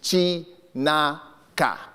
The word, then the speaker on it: Chinaka: My third name, and this is very traditional, and I'll pronounce it as it's spelled, is Chinaka.